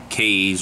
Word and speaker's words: Kaees: the Solomon to RTA from caves or Keys I think it's pronounced keys that's usually the way I pronounce it well it slides the